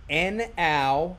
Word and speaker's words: Henao: joined by the owner of and I'm gonna pronounce this correctly an ow glass Claudia now she's the owner of the